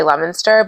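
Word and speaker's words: Leominster: It's We say Lemonster, but it's spelled Leo Minster.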